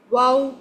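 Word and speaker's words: واو: Waw fatha wa. Make sure when you are pronouncing waw, you have to circle your lips.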